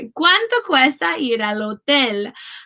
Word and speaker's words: hotel: The letter H has absolutely no sound in Spanish. ¿Cuánto cuesta ir al hotel?